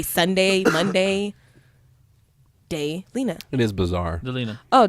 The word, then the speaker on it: Daelena: I'm friends with a girl on Facebook who her name is spelled the exact same way, but it's pronounced completely differently. Oh, that really helps. Hers is pronounced Daelena.